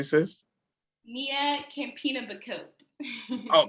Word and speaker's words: Campinha-Bacote: But anyway, as we move forward, we have Sister Nia Campinha-Bacote. Did I say it correctly, sis? Nia Campinha-Bacote. Oh, Campinha-Bacote.